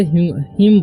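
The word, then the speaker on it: hymn: और इसे हिम पढ़ेंगे, ठीक है, एन का उच्चारण नहीं होगा, इसे पढ़ेंगे हम लोग हिम।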